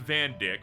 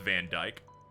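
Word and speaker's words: Vandyck: I'm like, you would think his name is pronounced Van Dick, but no, it's pronounced Van Djk.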